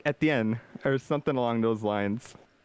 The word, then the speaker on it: Etienne: Oh, by the way, it is pronounced Etienne. Etienne? Etienne. Now in France. That it's was pronounced wrong. Now, no, you had it at one point, but in France it's like Etienne, or some shit.